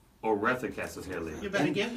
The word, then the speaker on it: Oretha: And the reason why I know that's the pronunciation is because Madea, who was her mother, that's what she called her. That was how she pronounced it.